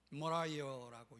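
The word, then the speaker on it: Moriah: 모라이어라고 영어로는 발음하죠.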